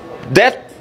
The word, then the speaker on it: debt: Debt. You say dep or debt. Debt. What is silent? B is silent.